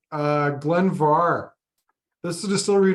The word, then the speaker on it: Glen Mhor: The last Glen Mhor we had, or Glen Mhor, I got to correct myself. It's spelled Mhor, but pronounced Far.